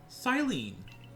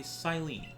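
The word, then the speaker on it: Cyllene: Captain Silene. I guess that's how you pronounce her name.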